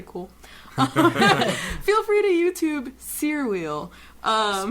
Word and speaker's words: Cyr: Um, so I'm studying Seer Wheel, which is a big metal circus apparatus. You spin around on it's a floor thing. It's really cool. Feel free to YouTube Seer Wheel.